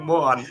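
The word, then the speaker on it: Morón: By a second, he was calling someone a moron. My mistake there. It's spelled exactly like the English word moron, but it's pronounced moron in Spanish.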